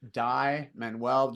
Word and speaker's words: Dai Manuel: that medium and it's just my name die manwell just remember it's spelled d a i and then menw m n u e l and the cool part